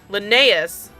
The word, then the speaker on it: Linnaeus: some thankful words from Leanus and Valora, I'm saying his name without even questioning it anymore. Linnaeus. Oh, I know I was saying it wrong, but I got it.